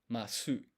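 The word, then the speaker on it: ます: end of a sentence, when you write them, there's actually like mas, but you don't pronounce this u sound.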